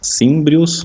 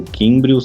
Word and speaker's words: címbrios: Essas tribos germânicas que vão dar esse primeiro problema para os romanos são os címbrios ou químbrios, depende de como quiser pronunciar o C aí, e os teutones.